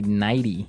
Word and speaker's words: nighty: You don't say nighty. You say nighty. Yeah. You you make the t a d.